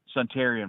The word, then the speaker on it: Suntarine: But I tell you what, do you say Suntarin or Suntarine, Perkins? How do you say it? Suntarian Perkins.